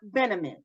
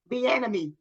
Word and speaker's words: Bieniemy: It's Bieniemy. What is it? Say his name again. No, you're making fun of me. Go ahead. No, it's Eric Bieniemy. Bieniemy.